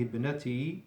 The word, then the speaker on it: ابنتي: هذه ابنتي ندى، هي طالبة. You don't pronounce the weak hamza of ibnati because it's in the middle of the sentence and it's a hamzatul wasli, a weak hamza.